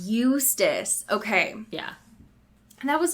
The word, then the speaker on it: Eustace: It is Eustace. Eustace.